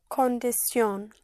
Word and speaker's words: condición: So you don't have the shin in Spanish, but sion. Yes, CIUN. Like condition would be? Condición.